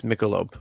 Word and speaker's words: Michelob: soda anymore really yes i'm pretty sure we say it wrong i think it's michelob but i called it i call it michelob nicole oh yeah it's mickelope for sure yeah damn it's just